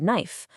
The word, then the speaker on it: knife: A perfect example is the silent K in the English word knife.